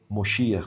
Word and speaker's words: Moshiach: Então, esse segmento acredita que o Rebbe é Moshiach, como é dito no Yiddish, né? Nós dizemos Mashiach, que é como a pronúncia no hebraico.